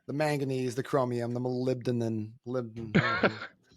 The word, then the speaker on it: molybdenum: But I've never pronounced it correctly until just right now. I think I was inserting like 2 or 3 extra syllables in there. Molybdenum. Okay, yeah, we got Molybdenum.